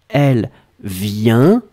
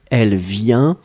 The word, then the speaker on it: vient: And so clearly you can hear the difference between the singular form, elle vient, this is a nasal, it goes in your nose, the N is included in the sound, elle vient, and the other one it's elle vienne.